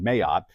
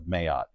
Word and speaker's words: Mayotte: I'm sure the French pronounce it a little differently, but this was the pronunciation that I got online, Mayotte.